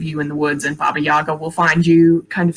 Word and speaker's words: Baba Yaga: kind of thing um or baba yega is is the more correct pronunciation but kind of in in english i think most people say baba yaga um yeah she so